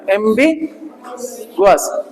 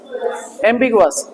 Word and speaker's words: ambiguous: This is ambiguous, बोलो, ambiguous, बी पे ऊपर जा रहे हैं, स्ट्रेस है, ध्यान रखना, ambiguous, ambiguous, ambiguous, ठीक है ना।